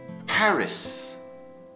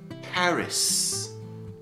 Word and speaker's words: Paris: English we say Naples Paris Paris this one comes up quite a lot in my English class everyone says pari which is the French pronunciation but in English you have to say Paris Paris Prague Prague Rome Rome st.